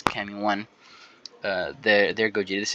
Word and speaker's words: Kamione: This is the Cami 1 or Cameon. I know some people pronounce it different, but I think it's Cammy 1.